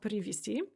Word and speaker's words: привезти: Привезти, which is pronounced привести.